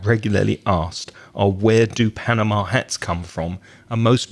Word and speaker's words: Panama: pronunciation of English and we stress the first syllable we say Panama in Spanish you stressed the last syllable but in emissions panama